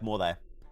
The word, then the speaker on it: Morthe: Is it like mouth or more like Matthew? No, it's like Morthe.